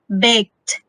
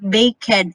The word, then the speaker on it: baked: k-e-d c-h-e-d or e d you have to pronounce us like the word baked understand eight locked so that's how you pronounce don't be confused like bakehead a cad lockhead no because sked k-e-d-c-h-e-d or